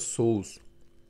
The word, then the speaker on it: соуз: национальное блюдо наше называется соус Ну как у на русском соус только у нас в конце з и ударение падает на у замечательной сыр полезный вместо